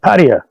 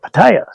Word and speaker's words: Pattaya: I was sitting there talking to Sampit and I said Pattaya. And she's like, what? That ain't how you say it. You say it Pattaya.